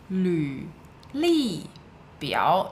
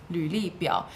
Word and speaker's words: 履历表: 履历表. Note the pronunciation of the character 履. It's a Okay, so it's an LV if you're typing on a keyboard.